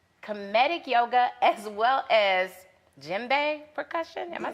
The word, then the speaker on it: Djembe: Caribbean, hip hop, Kemetic Yoga, as well as Djembe Percussion.